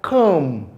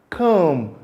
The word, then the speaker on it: comb: For example, when we have words like comb, comb, not the typical way of pronouncing it as comb. You don't pronounce it as comb, but it is pronounced as comb.